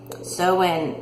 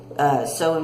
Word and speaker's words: Samhain: You can't pronounce it phonetically. Samhain is spelled Samhain, but it's pronounced completely different, and that's Gaelic for you.